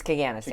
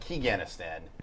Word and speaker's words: Kaganistan: It's Kaganistan. Kaganistan, not Keganistan.